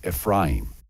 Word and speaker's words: Ephraim: And in this video series, we'd like to tell you the story about a young man in scripture named Ephraim, or some people pronounce his name Ephraim.